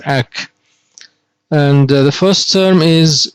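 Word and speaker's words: -ac: which is a c we pronounce it as ack and the first term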